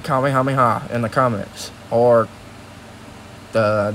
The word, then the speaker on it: Kamehameha: than likely a mythic kamehameha which i a lot of people again they say it wrong on youtube so i'm saying it right but a kamehameha is